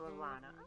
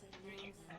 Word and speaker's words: Elena: So Alana, looking beautiful as ever. Do you know where they, Thank you. where they want these things? It's Elena. Okay. Have I been mispronouncing it this whole time?